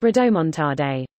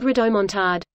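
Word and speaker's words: rodomontade: It's pronounced rhodomontade. Not rhodomontade.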